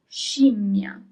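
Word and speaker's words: scimmia: Uh the next mysterious word is shima.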